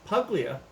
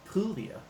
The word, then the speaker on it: Puglia: Some of you may pronounce it Puglia, but it's Puglia.